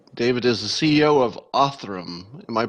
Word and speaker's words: Othram: David middleman and David is the CEO of auth room am i pronouncing that correctly yes the first technology company